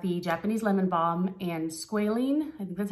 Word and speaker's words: squalene: it it's got the japanese lemon balm and squalene that's how it's pronounced 80 and it just locks in moisture